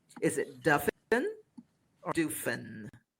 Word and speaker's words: Duffin: It's pronounced like muffin.